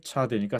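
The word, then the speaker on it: צדי: 그리고 발음은 당연히 차대니까 츠 발음이 나고 또는 쯔로 발음하는 경우도 있을 수 있습니다.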